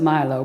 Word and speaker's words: Milo: I pronounce it Milo, but it's from the island of Milos in Greece.